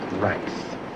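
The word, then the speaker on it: Reis: R-E-I-S. Reese. In German, that is pronounced Rice.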